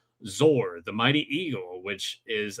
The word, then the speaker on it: Zoar: Regarding the bird's name, pretty sure it was supposed to be pronounced Zor to rhyme with soar, like what eagles do. In 1972, Mattel came out with a toy called Zor, the Mighty Eagle, which is another argument in favor of that pronunciation.